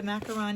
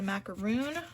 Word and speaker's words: macaron: And it's a macaron, you guys. It is not a macaroon. That is a different cookie.